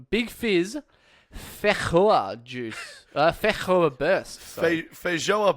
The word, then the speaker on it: feijoa: Feijoa is the fruit, or feijoa, as Chris is just assuming. How do we Google what? How do we find out the actual thing? Google pronounce. Feijoa pronunciation. Here we go. It's feijoa.